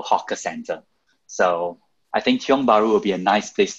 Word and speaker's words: Tiong Bahru: So I think Tiong Bahru is a great, Tiong Bahru, but it's a local name, so it's a bit difficult to pronounce.